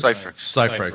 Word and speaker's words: Cyphrex: Cyphrex, and is it Cyphrex? Is that how you pronounce it? Cyphrex. So like Cypher.